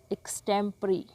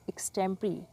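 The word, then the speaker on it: extempore: A speech delivered without preparation, एक ऐसा भाषण जिसकी पहले तैयारी ना की गई हो, इसको कहेंगे एक्सटेम्परी। प्रोनाउंसिएशन थोड़ी सी डिफरेंट है, एक्सटेम्परी।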